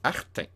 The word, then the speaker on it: Arthain: l'histoire du royaume dartin prononce à la française art un art un art et c'est ça